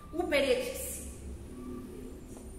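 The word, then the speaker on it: ὑπηρέτης: Uperetes. Uperetes com H. É exatamente como se pronuncia, coloca só o H na frente.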